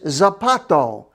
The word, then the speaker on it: zapato: ice don't eat it the word for shoe is zapato sounds like zip a toe or zappato zapato maybe your shoes